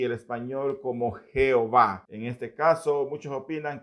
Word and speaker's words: Jehová: Sin embargo, recordemos que la primera letra hebrea del nombre de Dios es y dicha letra suena más como y que como J.